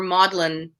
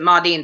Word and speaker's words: Maudlin: under the name uh modine or maudlin depending on how you pronounce it as m-a-u-d-l-i-n connor pronounce it ma dean so i'm just gonna